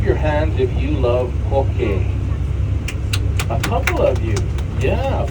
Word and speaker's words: poke: that word though okay it's spelled p o k e but it's pronounced p o h k a y if you're talking to